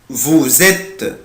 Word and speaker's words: vous êtes: est nous sommes vous ici je prononce la lettre S Z. هنا هنطق حرف الاس ايه يا ولاد؟ Z. vous êtes برافو عشان جاي بعد منه lettre ايه voyelle.